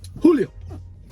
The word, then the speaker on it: Julio: So which way is the right way to say it? Julio. Yeah, the deeper part in the front.